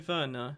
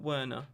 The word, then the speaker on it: Werner: you know just like we say timo verna not werner i think it's the